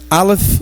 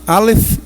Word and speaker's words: Alef: É assim que pronuncia. Alaf Alef Atave.